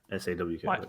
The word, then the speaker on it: Sawk: SAWK. Like hawk, but an S.